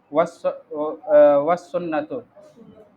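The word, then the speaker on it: والسنة: वसुन्नतु, काम साइलेंट हो गया।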